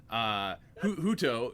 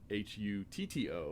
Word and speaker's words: Hutto: and I thought, I had to look up how it was pronounced, and then I still messed it up, but Hutto, it's spelled Hutto, so... H-U-T-O? H-U-T-T-O.